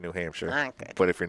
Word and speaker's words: Concord: I wanted to let everyone know, too, you are watching the 2024 Capital City Invitational here in, is it Concord?